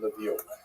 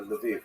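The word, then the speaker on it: Lviv: So this is in the western part of Ukraine not too far from Levie or Leviv as it's pronounced now.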